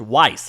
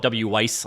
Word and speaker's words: Wwise: Canadian company which is cool uh and it's pronounced Weiss I never knew that either so this is a wise thing to learn uh I used to call it w Weiss I've never knew how to pronounce a ww